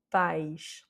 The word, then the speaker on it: pais: Donc il s'agit de pais. Pais, donc l'accent est sur le A, parce qu'on est dans